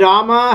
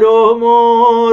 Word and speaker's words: Rama: do not say Hare Rama, Hare Krishna, Rama Rama, Hare Hare. They pronounce it as Hare Romo, Romo Romo, Hare Krishna, Krishna Krishna, Hare Romo, Romo Romo. Rama becomes Romo for them.